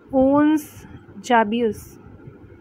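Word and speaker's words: Ons Jabeur: ओन्स जाबियस, यही है pronunciation, ओन्स जाबियस, ONS, ठीक है।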